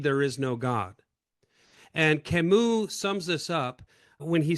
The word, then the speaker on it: Camus: Albert Camus. I used to pronounce it Albert Camus until I had a French student years ago relentlessly mock me and straighten me out with Albert Camus.